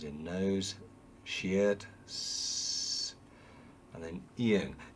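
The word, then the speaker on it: 이응: Eung's important because there are 2 very important pronunciations of this. When it's in the final position, it has some kind of sound. So it's as in song. But when it's in the initial position, at the beginning of a syllable consonant, there's no sound. So it's just ah here.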